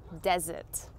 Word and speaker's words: desert: This next one is nearly the same as dessert in its noun form, but it's actually pronounced desert. Desert.